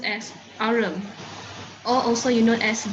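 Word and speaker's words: aurum: So this one, AU is arum. This is how you spell it, arum.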